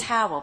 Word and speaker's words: Howell: and so forth well my last name is Howell being Minister's daughter every time we said this the uh the prayer in the church I just always thought that everybody was saying my name how will be my name you know she well